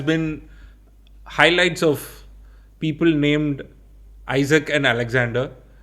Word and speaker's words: Isak: Yeah I think the week has been highlights of people named Isaac and Alexander.